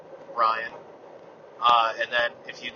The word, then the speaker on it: Bryon: It's kind of like Byron, but Bryon.